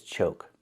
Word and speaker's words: choke: The first word is choke. We see we have a silent E at the end. When you have a silent E at the end of a word, we know the previous vowel is long, so we need the O sound like Coke, Coca-Cola. O, like no and go, choke.